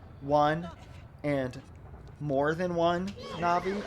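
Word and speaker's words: Navi: Na'vi, I keep wanting to call her Siri. It's two syllables.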